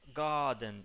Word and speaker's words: garden: Fíjate que la R, recordá que no se pronuncia. Así que es garden.